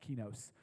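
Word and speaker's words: κενός: word that Paul uses is a word called key nos or key knows it's actually pronounced key knows he knows and what key knows means is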